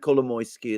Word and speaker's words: Kolomoisky: And Kolomoisky as well. And by the way, I pronounce his name in exactly the same way as you, and I'm sure that is the right way.